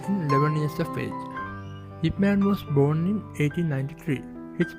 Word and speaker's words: Yip Man: So most of the people used to pronounce it as IP Man. However, the name of Yip Man is totally Chinese name.